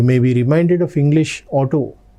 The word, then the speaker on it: Auto: Unser Auto ist schnell. When you look at this word, you may be reminded of English auto. No, it is to be pronounced as auto, not auto, auto.